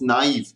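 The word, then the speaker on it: naive: ये गलत नहीं है, that's a French word, it's a French word, it's called नाइव। Pronunciation में ध्यान देना, इट्स नाइव।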